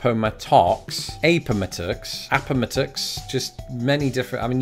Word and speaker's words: Appomattox: correct pronunciation is Appomattox it's a word not dissimilar in many ways to Potomac in the way it trips me up you expect the emphasis to be on a different vowel sound and it just isn't and I think also